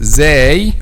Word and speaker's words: Zāy: this is the point of articulation of letter zay or zay and how we pronounce it the tip of the tongue touch the edge of front two lower incisors as okay this